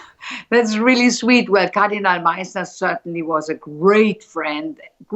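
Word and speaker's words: Meisner: Am I pronouncing it correctly? Yes, Meissner.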